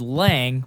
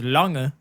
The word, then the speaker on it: Lange: my last name, it's so how we say it over here is Lang, but that's not how it's technically pronounced. Right. Technically, it's pronounced Lange, but over here we say Lang.